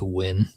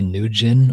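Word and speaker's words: Nguyen: That's pronounced win. People say nin or nuin. It's literally just win.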